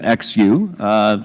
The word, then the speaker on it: Xu: Yeah, so XU, and she prefers that people pronounce her name XU, spelling it out, that she's been clearly emphatic about what she thinks the right approach is.